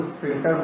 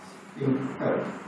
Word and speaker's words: sphincter: और सिग्नल जैसे ही ब्रेन का मिलेगा तो वहाँ की हमारी एनस की जो स्फिंक्टर मसल्स होती है जो कि हमारे वॉलेंट्री कंट्रोल